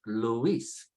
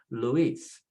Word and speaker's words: Luis: So for example, we got 2 weak vowels in the word Luis, and you got it, I and you are both weak. So just put the stress on the second vowel and call it Luis, Luis.